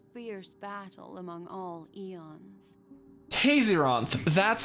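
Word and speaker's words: Tayzzyronth: evolved into a fierce battle among all eons Tason that's how you pronounce the the propagation name I called him Tazon Tason makes more sense two paths lost their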